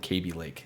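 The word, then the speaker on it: Kaby Lake: Every big tech tuber that has sat down with them personally in conferences have called it KB Lake. So if Intel is mispronouncing their own shit, this is the CW at CW TV.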